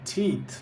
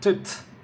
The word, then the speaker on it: teeth: 16, teeth. Not tit. Teeth. Watch out for the long E.